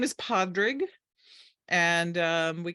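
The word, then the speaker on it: Pádraig: Happened to be in Florida, and he said, "No, it's not Padraig. It's the Americans pronounce the D. It's actually Padraig."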